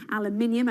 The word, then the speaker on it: aluminium: finally we have been talking a lot about aluminium i'm saying it right this time guy despite